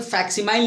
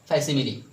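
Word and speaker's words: facsimile: फैसिली का मतलब फैसिमिली का मतलब देखो, इसका प्रोनाउंसिएशन पे ध्यान दें। इसका प्रोनाउंसिएशन फैक्सिमाइल नहीं होता है, इसको हम क्या पढ़ेंगे? फैसिमिली।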